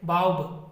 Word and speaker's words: baobab: ठीक है, बाउब, बाउब इसको प्रोनाउंसिएट किया जाता है, बाउब इसका अनदर नेम हो गया।